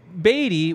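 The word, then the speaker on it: Badie: on Jerry duty but with with Beatty which is how the Missouri renunciation guide said dead but batty how the Broncos said when they introduced him although they didn't include him on their pronunciation guide but we'll move on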